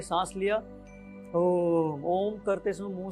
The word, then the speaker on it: ओम: तो अपना करना क्या है हम लोगों को, देखिए सांस लेना है, और ओ का उच्चारण कम करेंगे, ओम। तो ओ का उच्चारण कम और म का उच्चारण ज्यादा।